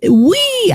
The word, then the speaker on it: WIE: we winds a hashtag we Wednesday pronounced we I love that even though it's hashtag wi e wednesday okay so tweet